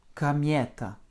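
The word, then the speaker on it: комета: et l'accent tonique tombe sur le yé, ce qui rend le O et le A très atones. Écoutez la prononciation. Camieta.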